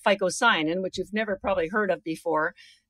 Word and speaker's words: phycocyanin: It has a blue pigment, which is called phycocyanin, which you've never probably heard of before. So I'm going to even spell it for you so that you can go online. It's P-H-Y-C-O-C-Y-A-N-I-N.